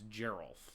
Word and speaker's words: Geralf: so it is it's Geral then and gissa or Giza so it's Geral it is like Gerald how